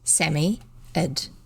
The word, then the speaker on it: Psammead: robert anthea and jane that it was a samiad and that's spelt p-s-a-m-m-e-a-d or sand fairy fairy and then she's got written here samia is pronounced sammy ed there you go it was very oh it